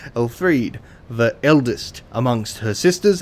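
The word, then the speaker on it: Elfriede: Elthreed. Why do I pronounce that like a TH? Elfried, the eldest amongst her sisters and leader of the Sable Church, bestowed the sword to her knight.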